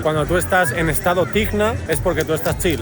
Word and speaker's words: Tihna: Cuando tú estás en estado Tihna es porque tú estás chill, estás perfectamente tranquilo.